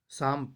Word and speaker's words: psalm: इसमें P silent रहता है, इसलिए इसके उच्चारण की शुरुआत एस से हो रही है ना।